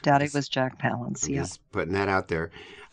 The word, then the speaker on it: Palance: correct daddy was jack palance yes putting that out there uh palace rhymes with balance i think um collins